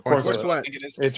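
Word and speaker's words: Corenswet: Corn Sweat.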